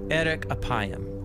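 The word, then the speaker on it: ארך אפים: in Hebrew the phrase slow to anger is pronounced Eric apayam or literally long of nose but what does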